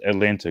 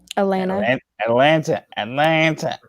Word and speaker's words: Atlanta: Atlanta. Atlanta. Atlanta. You don't even pronounce the T.